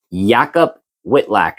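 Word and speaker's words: Jakub Wikłacz: Yakob Whitlack, that's how they pronounce it.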